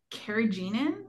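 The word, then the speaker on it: carrageenan: so I want to quickly talk about um kagenin I think is how you say that but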